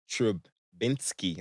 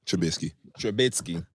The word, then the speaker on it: Trubisky: I want to give a shout out to Mitch Trubisky. I said it right? Okay. No, Trubisky. This nigga you been fucking